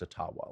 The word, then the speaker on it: Ottawa: white Canada but it it really is pronounced etawah like that's the Ojibwa pronunciation yeah and you've been doing it wrong for 300 years and they're like oh